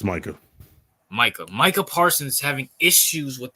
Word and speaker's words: Micah: Micah, whatever, how you pronounce his name? Yeah, Is it Micah or Micah? It's Micah.